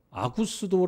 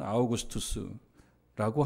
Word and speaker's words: 아우구스투스: 가이사 아구스도가 영을 내려 아구스도 아고 이렇게 음역을 했어요 옛날 성경 옛날 독법이 옛날 발음으로 아구스도 아고 이렇게 했는데 우리가 세계사 시간에 배운 대로 발음하자면 아우구스투스라고 하는 사람이죠 조넘 자고 당시에 아주